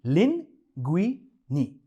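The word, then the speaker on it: linguine: Italy की classic pasta लिंगुइनी, इसे pronounce करते हैं लिंगुइनी। वेरी सिंपल, हालांकि पढ़ने में कुछ और दिखता है, लिंगुइनी।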